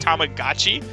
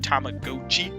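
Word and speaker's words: Tamagotchi: the tamagachi Plaza game or they said tomag GOI I I think that's wrong I'm not an expert but I'm pretty sure it's pronounced tamagachi but the the narrator called it tomag GOI uh cool I don't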